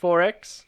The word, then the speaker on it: XXXX: It's XXXX, pronounced 4X.